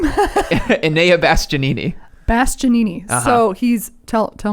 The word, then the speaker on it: Enea Bastianini: Enea Bastianini.